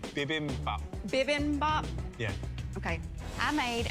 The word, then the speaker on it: bibimbap: Bibimbap.